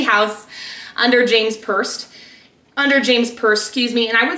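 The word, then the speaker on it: James Perse: Next brand is James Purse.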